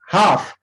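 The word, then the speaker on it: half: हाफ, हाफ में L silent होता है।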